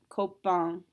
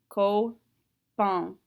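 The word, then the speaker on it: copain: this particular word for a friend the correct pronunciation is coke bond so in is not a careful letter however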